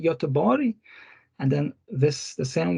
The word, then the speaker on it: Göteborg: Then you have this letter G and pronounced as J, like Gävle, Göteborg, and then this the